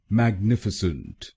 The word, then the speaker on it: magnificent: और ये ध्यान में रखिए कि हमको दूसरे शब्दांश पर यानी NIF पर जोर डालना है। मैग्निफिसेंट, मैग्निफिसेंट। गलत प्रोनाउंसिएशन में हम पहले शब्दांश पर यानी MAG पर जोर डालते हैं, मैग्निफिसेंट।